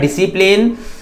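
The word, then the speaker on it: discipline: एंड यहां पर S silent है, यहां हो जाएगा डिसिप्लिन।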